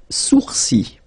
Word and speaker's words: sourcils: Les sourcils, les sourcils. Okay, so it's quite strange because you get this LS at the end, but then, well, you don't pronounce them.